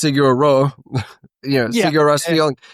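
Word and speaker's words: Sigur Rós: And I got a very big what I've come to find out is it is pronounced Siguro, you know, Sigur feeling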